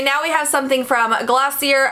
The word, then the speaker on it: Glossier: we have something from glossier again this is how google says it's pronounced yell at google not